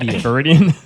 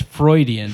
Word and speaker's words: Freudian: one more time frean faridian faridian how do you say it it's Freudian frean his name is Freud not FID I don't know it